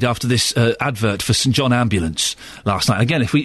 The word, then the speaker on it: St John Ambulance: advert we now know it's St John Ambulance not St John's ambulance and boy do they get upset when you say it wrong and good for them